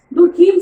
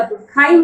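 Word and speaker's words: Durkheim: दुर्खीम साहब हम जानते हैं, इमाइल दुर्खीम साहब को दुर्खाइम कहिए या दुर्खीम कहिए, बात वही होती है। तो दुर्खीम साहब जो है, जो इंग्लिश जैसे थोड़ा सा शुद्ध उच्चारण उनका दुर्खाइम होता है क्योंकि वो फ्रांस के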